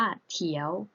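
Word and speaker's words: 条: ตัว ต่อ ไป นะ คะ คือ คำ ว่า เถียว เถียว เถียว นัก เรียน แล้ว ออก เสียง สิ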